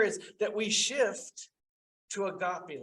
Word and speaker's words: agape: that we shift to agape love or agape love as is properly pronounced which is a more